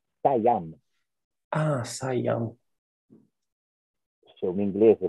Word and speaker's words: Siam: La parola sostanzialmente è corretta, ma è completamente sbagliata nella pronuncia, perché sono stati gli inglesi per primi a dare una scrittura alla parola. Ok. Adesso ci arrivo. Si dice Siam.